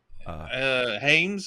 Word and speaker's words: Hyams: I'll let you pronounce. I'll let you do the dirty work here. Hyams, I guess. Yeah, Hyams.